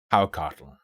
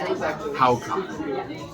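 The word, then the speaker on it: hákarl: I've come to a bar I don't remember the name of, and I've ordered what I believe is pronounced haucatl. That is a word that looks like it should be said hakarl, and it is fermented shark.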